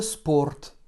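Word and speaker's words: спорт: happé à la chaux ce taux est est ce porte est ce porte pour écrire ce porte donc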